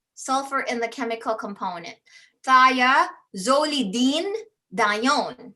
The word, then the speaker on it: thiazolidinedione: Thiazolidinedione. Thia, you broke it down right. Thia represents sulfur. Sulfur in the chemical component. Thiazolidinedione, not Celine Okay, but